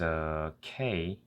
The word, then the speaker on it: 악: So with a, you add K sound at the end. So it becomes ak. One thing to notice is that it doesn't have the ak, the k sound at the end. You only need to pronounce until the stopping sound of a K.